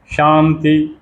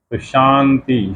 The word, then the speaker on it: शांति: पढ़ते हैं और शंभु शांति वही ताल विष उसके ऊपर बिंदी और ती शांति शांति वो न का उच्चारण कर देते हैं उसको हम न बोलते हैं और शांति हो जाता है हालाकि यह व्याकरण